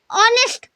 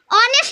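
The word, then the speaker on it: honest: यानी अ क्या है ऑनेस्ट अब देखिए ऑनेस्ट में एच साइलेंट हो जाता है ओ से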